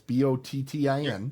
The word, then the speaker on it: Bottin: Rob Bottin, and I think that's how I've heard it pronounced, but it's Bottin.